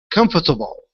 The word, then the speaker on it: comfortable: right two times um but you're still adding in that o r the o r you need to remove that from the word comfortable okay all right so let's